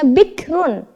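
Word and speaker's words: بكر: Maka kita membacanya tipis ro-nya atau tarkik. Bikrun dibaca bikr.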